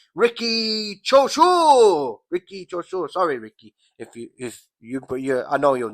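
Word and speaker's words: Riki Chōshū: Number 9, Riki Chop Suey. No, Chop Suey. Ricky Choshu.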